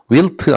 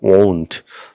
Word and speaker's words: won't: won't입니다. will't 아니고 won't. 좀 신기하네요. 발음 주의하세요. want 아닙니다. won't요.